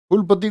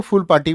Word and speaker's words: फुलपति: फुलपति को फुल पार्टी भी बोलते हैं, हाँ वो PATI अंग्रेजी प्रोनाउंसिएशन हो गया अंग्रेजी का, तो उसको फुल पार्टी बोल सकते हैं, कोई दिक्कत नहीं।